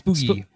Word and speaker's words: Spoogie: Boogie seems to be the nickname for Akeem Dodson. Spoogie, I believe Spoogie? it is. Spoogie. Interesting. Glad to learn how it's pronounced.